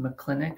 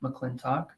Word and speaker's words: McClintock: For those of you who are not closely familiar with McClintock and Associates, first, yes, it is pronounced McClintock, not McClintock, but we're a CPA firm located just outside of Pittsburgh, Pennsylvania.